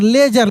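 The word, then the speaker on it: ledger: उसको लेजर ठीक है तो नियम क्या था कि डी जी के बाद ई आई या वाई आता है तब डी साइलेंट रहता है और केवल ज का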